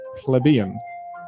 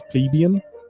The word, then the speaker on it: plebeian: So, in England, we say pleb because we pronounce it plebbeian, I think. Plebian or plebian, something like that. But in America, it's plebeian, which I've always hated.